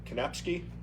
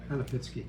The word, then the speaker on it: Kanapitsky: First one is Kanapski. I might be mispronouncing it. Pitsky. Kanapitsky. That's it. Left the syllable out of that.